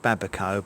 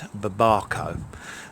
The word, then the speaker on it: babaco: Perhaps I'll just call it mountain papaya, but I've always called it babaco, but apparently it's babaco.